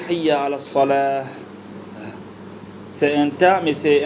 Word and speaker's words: صلاة: Mais si tu te dépasses, si tu t'arrêtes, tu ne prononces pas le ta, tu prononces ça en ha. D'accord? Hayya ala salah.